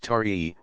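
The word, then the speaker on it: Taë: the tribe the child whose name was T pronounced tari was the Magistrate's eldest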